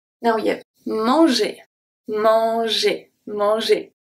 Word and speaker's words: manger: And the only letter that actually stays the same is M. So, A-N is pronounced as en, en, E-N. Same spelling as E-N. The G is turning into a soft G because it's followed by a E. J, j, mange. And then we have E-R that sounds like a E. Manger.